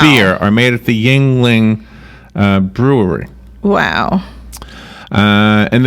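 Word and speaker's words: Yuengling: how you pronounce it Yingling is it y u n g yes yeah Yingling my daughter drinks that so Yingling Yingling Yingling like ying and yang Yingling the Yingling Brewery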